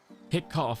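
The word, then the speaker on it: hiccough: Hick cough has the sound of cup.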